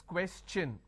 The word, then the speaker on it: question: When I have the word question, the T-I-O-N becomes ch-n. So it becomes question.